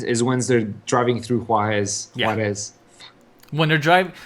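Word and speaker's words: Juárez: Juarez.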